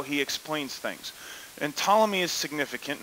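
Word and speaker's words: Ptolemy: achievements in astronomy now tmy the p is silent he believes in a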